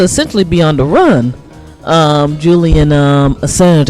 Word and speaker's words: Julian Assange: Julian Assange, I think is the right pronunciation for his name.